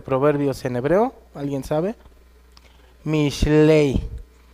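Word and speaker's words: משלי: Mishlei. Mishlei.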